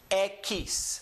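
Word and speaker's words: equis: These 3 letters, we saw them back with the letter Q. This comes out to the pronunciation ki, and then the last letter being an S. X.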